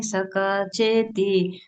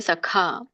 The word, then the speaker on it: ಸಖಾ: ಧನ್ಯವಾದಗಳು ಹರೇಕೃಷ್ಣ ಇಲ್ಲಿ ಸಖ ಸಖ ಅಂತ ಇಲ್ಲ ಸಕ ಅಂದ್ರೆ ಸಣ್ಣ ಕ ಆಗುತ್ತೆ ಸೋ ಇಲ್ಲಿ ದೊಡ್ಡ ಕ ಇದೆ ಸಖ ಪ್ರತಿಯೊಂದಕ್ಕೂನು ಒತ್ತಿ ಹೇಳುವಂತ ಪ್ರವೃತ್ತಿ